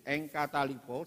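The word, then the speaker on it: ἐγκαταλείπω: itu bacanya itu engkaalipo saudaraku yang artinya adalah meninggalkan.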